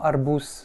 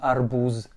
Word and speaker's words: арбуз: Comme dans arbus, le Z se retrouve en finale, on va prononcer le Z non voisé. Et donc un Z non voisé, ça devient un S. Donc on dit bien arbus et non arbuz.